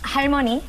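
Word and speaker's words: 할머니: Halmoni.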